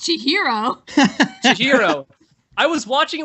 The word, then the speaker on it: Chihiro: say no what I will say is it's pronounced Chihiro Chihiro I was watching it with the subtitle